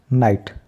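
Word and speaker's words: night: silent कर दिया राइट अब यहां पर नाइट जी एच को फिर साइलेंट कर दिया और टी रहेगा नाइट तो यह इस तरीके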